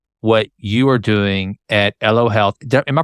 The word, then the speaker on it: Elo Health: I learned about what you are doing at L Health am I pronouncing that right L Health yep that's great l means um life in